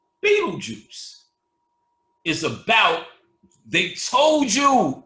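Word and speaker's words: Betelgeuse: they spelled the star Beetle gist but it's pronounced Beetle Juice Beetle Juice is about they told you in the [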